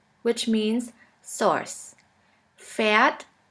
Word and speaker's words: Pferd: Now let's continue with the next letter combination, PF, which sounds like a puff sound. Here we have the example of the word Pferd, which means horse.